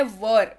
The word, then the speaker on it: were: वेयर मत पढ़िएगा please, मैं हर अपने क्लास में बताती हूँ, जब भी मैं वर के बारे में पढ़ाती हूँ तो वर ही इसका उच्चारण होता है, वेयर नहीं पढ़ते हैं इसको, राइट।